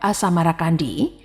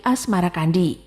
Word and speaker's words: Asmarakandi: Mengikuti pengucapan lidah Jawa terhadap As-Samarakandi berubah menjadi Asmarakandi.